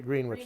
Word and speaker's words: Greenwich: Greenwich. Greenwich. Yes, we're not in New York, Connecticut, or the prime meridian of London. They pronounced it Greenwich, these people.